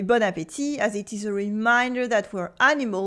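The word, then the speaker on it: bon appétit: before any meal the tea at the end is silent we don't say Bon Appetit it is Bon Appetit we've seen that before in French culture meals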